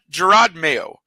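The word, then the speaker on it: Jerod Mayo: with the coach so I I I got Gerard mayo and that is the way you pronounce it I had to look it up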